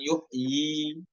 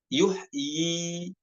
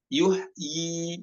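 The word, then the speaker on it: يحيي: Nah, pada kata yuhyi di sini dibacanya dua harokat, ya-nya ada. Walaupun ya-nya sama-sama ada di ujung ya, dibaca tetap yuhyi, bukan dibaca sukun, bukan yuh, bukan, namun dibaca yuhyi seperti itu.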